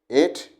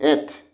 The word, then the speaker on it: ate: And these symbols tell us that you must pronounce eat, ate, ate, eaten. Eaten. You see here E, ta, eaten. This is A, T, ate, not at, not at.